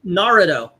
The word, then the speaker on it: Naruto: It's Naruto.